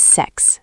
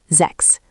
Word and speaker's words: sechs: Six is sechs, six. This one is crisp, sechs, with that ch like a soft raspy ending.